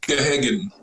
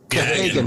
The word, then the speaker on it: Gahagan: From Car Care, we got how you say it? Gahagan. Gahagan, that's it, Gahagan. Gahagan from WKBN's Car Care.